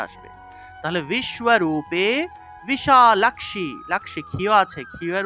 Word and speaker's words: বিশালাক্ষী: দেখুন তালব স্বয়ের নিচে বফলা আছে তাহলে শুয় উচ্চারণটা আসবে তাহলে বিশ্বরূপে বিশালক্ষি লাক্সি খিয় আছে খিয় এর উচ্চারণটা হলো ক্ষ অর্থাৎ যে জায়গাতে আমরা খিয় পাবো সেই জায়গাতেই ক যোগ মূর্ধন্যস এভাবে উচ্চারণ করতে হবে তাহলে বিশালাক্ষী বিশালাক্ষি এইভাবে বিশালাক্ষী বিদ্যাম আবার এখানে দেখুন জফলা